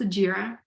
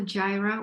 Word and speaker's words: Jira: tracking um jira Industrial it is pronounced jira not a Gyra or anything else this is jira please make sure you pronounce it right and then test